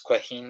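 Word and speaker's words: Caoimhín: I think it's Quaheen it's pronounced.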